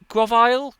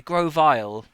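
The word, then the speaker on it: Grovyle: So that's uh Gravile. Gravile. Which is the the first? Just double check how how to pronounce pronounce Oh, Grovi. Okay. Grovile.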